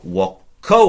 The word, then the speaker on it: voco: Voc, remembering the V in Latin is a W. If you can remember to pronounce it like that, we go voco, I call.